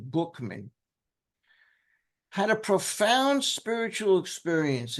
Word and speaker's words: Buchman: Frank Bookman, and that's how he pronounced his name, not Buckman, Bookman, had a profound spiritual